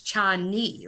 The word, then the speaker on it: Chani: I thought she was Spanish, and she's white, and it's Chani, like your knee is what she said in her book.